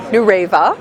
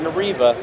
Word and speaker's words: Nureva: with Nancy Nolan from New raiva new raiva get that right it's not nor Eva that's the proper pronunciation we're even hear about